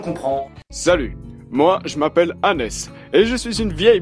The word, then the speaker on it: Hannes: Justement dans la vidéo de Ritech, ils disent Hans. Hans, Dieu merci! Du coup, j'ai eu le sentiment que ça allait être la merde si je ne précisais rien, si je pensais que c'était évident pour tout le monde. Donc à Maxime notamment, je lui ai dit « Tiens, on prononce Hannes, Hansi ».